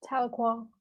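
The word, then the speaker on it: Tahlequah: With a tornado possible tag, is that how you pronounce that? Taloqua. Yeah, Taloqua.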